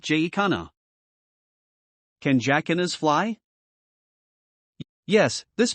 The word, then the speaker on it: jacana: established pronunciation in portuguese the sea is meant to be pronounced as an s this pronunciation has sometimes carried over to other languages as well however the standard english pronunciation is something like j khanna can jakkinas fly yes